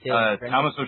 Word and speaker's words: Tommaso: I know the dude, but I cannot pronounce it. This is Tommaso Ciampa.